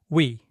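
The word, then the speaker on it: ㅟ: So these days, Koreans pronounce it by smoothly moving from the U shape to the E shape like this.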